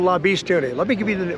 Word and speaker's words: La Bestione: He comes back and says, La Bestione. I spell it.